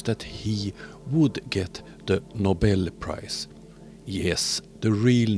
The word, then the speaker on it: Nobel: he would get The Nobel Prize yes the real name is Nobel not Noble it's a Swedish name so it's pronounced Nobel D believes that he